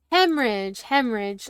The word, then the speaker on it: hemorrhage: As usual, nope, there's no R there. There we go. Oh. Come on. Hemorrhage. Yeah, me adding extra letters where it should not be in my pronunciation is, more likely than you think.